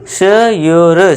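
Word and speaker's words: sure: इसे क्या पढ़ेंगे आधा प यो र प्योर श योर श्योर प्योर श्योर आप इस तरह पढ़िए फोर्थ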